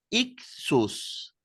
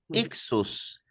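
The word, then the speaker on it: ἰχθύς: un pescadito en griego la palabra pez se pronuncia ius repitan conmigo por favor ius ixus significa pez Pero por qué el pez se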